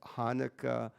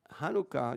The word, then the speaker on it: Hanukkah: the letter begins with that's not an h sound that's a real strong ch sound like in bach so to say hanukkah you can say or